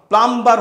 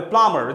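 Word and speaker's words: plumber: বলতাম, হবে claiming, ক্লাইমার, প্লাম্বার হবে না, হবে প্লামার, যে বাথরুমের যিনি কাজ করেন,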